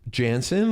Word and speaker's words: Janssen: Um, Jansen, like Jansen, like Swedish, is that how it's pronounced?